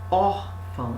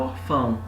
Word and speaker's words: órfão: Então, aqui você tem o O, porque você fala órfão e não orfão.